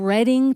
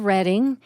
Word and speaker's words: Reading: a ride on the reading that's the way it looks you'd think that's the way it's pronounced no it's Reading Pennsylvania named after reading England the birthplace of William